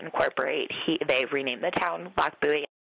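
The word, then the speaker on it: Lochbuie: You just pronounce it Loch Buoy. I hear a lot of Loch Buoy, pronouncing the CH, or things like Lockabee, Loch Blah.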